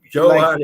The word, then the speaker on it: Johan: Johan is perfect.